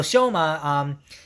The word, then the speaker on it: Shoma: That's how you pronounce his name. So Shoma is thinking about what to spend his last parts of money that he has left.